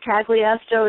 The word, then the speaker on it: Cagliastro: a real Italian um some people say kly ASO it's easy to find me that way but I really really